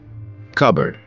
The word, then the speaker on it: cupboard: here T is silent cupboard here p is silent Gourmet here T is